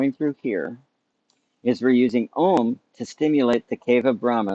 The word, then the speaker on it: Om: go first one is ohm it's a short o long um and try to resonate